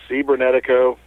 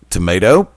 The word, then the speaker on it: Cibernetico: Cibernetico. Tomato? No, there is no tomato. That's how it's pronounced.